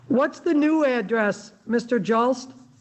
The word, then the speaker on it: Jost: last name j-u-l-s-t no it's j-o-s-t just j-o-s-t and you say it like jost that is correct oh i was saying